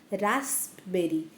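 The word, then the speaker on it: raspberries: आर आय इ एस रासबेरी पण इथं P silent असल्यामुळे आपण सगळे त्याला रासबेरीज असं म्हणतो तर ही माझ्या छोट्या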